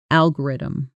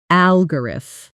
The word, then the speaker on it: algorithm: Stress lands hard on that very first syllable, al, and then the rest of the word tumbles downhill quickly and lightly after it. Many learners accidentally put equal stress on every syllable, which makes the word sound heavy and mechanical instead of natural.